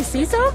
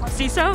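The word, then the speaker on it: CISO: you pronounce that abbreviation I would say seesaw ceso yeah okay awesome all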